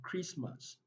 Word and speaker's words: Christmas: So we have silent letter T. So we have castle, we have Christmas, Christmas, wrestle, wrestle, catch, catch, asin, asin, apostle, pestle, rapport.